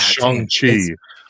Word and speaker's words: Shang-Chi: Ragnarok, 10 Captain America the First Avenger, 9 Shang-Chi. I said that wrong. I think it's Shang-Chi. Sorry, Shang. It's Shang-Chi.